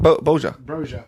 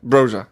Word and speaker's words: Broja: Boja. Broja.